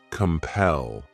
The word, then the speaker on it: compel: The next verb is compel. This word has 2 syllables, and the stress is on that second syllable. Compel.